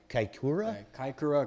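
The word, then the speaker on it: Kaikōura: It says how would you pronounce that racetrack, John? You'd be better at it than me. Kaikoura. Kaikoura.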